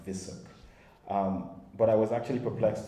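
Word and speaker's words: VUSSC: the virtual university of small commonwealth states it's pronounced vissuk but i was actually perplexed to read in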